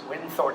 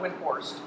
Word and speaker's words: Windthorst: Windthorst, right? Windthorst, not Windhorst. Windthorst. You got to say it right.